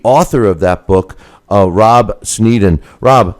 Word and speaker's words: Sneddon: And joining us right now is the author of that book, Rob Sneddon.